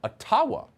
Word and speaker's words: Ottawa: let the mayor of ottawa or atawa as it's correctly pronounced ojibwa explain why peaceful